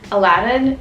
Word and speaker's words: Aladdin: And now I know it's Aladdin, it's not like any other weird pronunciation.